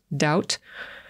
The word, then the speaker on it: doubt: Słowo doubt wymawiamy bez litery B, ignorujemy ją, tak jakby jej w ogóle nie było. Zwątpienie czy wątpić. Doubt.